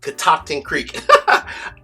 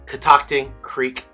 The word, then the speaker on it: Catoctin Creek: First and foremost, it is pronounced Catoctin Creek.